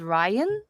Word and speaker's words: Rian: I never knew that his name was Rian, but it's pronounced as Ryan, I think.